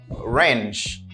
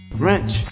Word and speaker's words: wrench: next one I do wrench wrench these are arranged like I would like to draw your attention here notice I don't pronounce the letter W my Papua say range